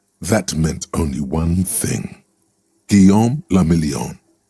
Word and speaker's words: Guillaume: Guillaume la Million. Guillaume? If it doesn't rhyme, you're not pronouncing it right.